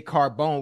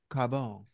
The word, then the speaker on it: Carbone: Carbone Carbone yeah say you gotta say it like you're Italian Carbone you got to say it right don't just say Carbone we know it's Carbone